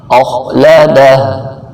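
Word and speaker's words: أَخْلَدَهُ: یہاں کھینچنا ہے، مالہ اخلدہ، یہ خواہ موٹا، اخلدہ۔ اردو تلفظ یحسب ان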